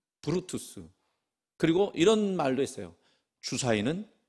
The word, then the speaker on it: 브루투스: 블루투스가 아니고 브루투스.